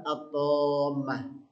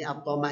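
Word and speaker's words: الطامة: tiba-tiba tadi jaat datang atamah atamah kalau kita lihat dari cara bacanya saja ya ini kalau dalam ilmu tajwid kita mengetahui ini termasuk bacaan Mad yang paling panjang bacaan Mad yang paling panjang ee atamah dan semisalnya jadi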